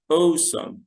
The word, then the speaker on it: awesome: الحاجة دي جميلة نقول عليها awesome. awesome. ال A وال W مع ال E بتنطق O، وبعدين some. awesome.